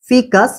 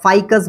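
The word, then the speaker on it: Ficus: অনেক রকম উচ্চারণ করে কেউ ফাইকাস বলে কেউ ফিকাস বলে দুটোকেই বললাম ওকে নেক্স চলে আসো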